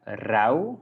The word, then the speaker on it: rauw: So we have rauw, that means raw, something raw. And the zout, the salt. So we just write it different ways, but we pronounce it the same.